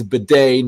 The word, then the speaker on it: bidet: if i'm totally wrong i already realized i pronounced the day wrong completely but it's bidet not bad so there we go